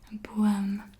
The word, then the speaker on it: boom: Boom. This is a long O sound.